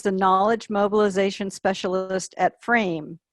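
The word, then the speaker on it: FRAYME: Travis Sztainert, who is the Knowledge Mobilization Specialist at FRAME, that is spelled F-R-A-Y-M-E, in Ottawa, Ontario, Canada.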